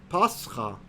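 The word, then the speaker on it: πάσχα: Meaning, for example, the Greek word for quote-unquote Easter is pascha. That's how you say it in Greek.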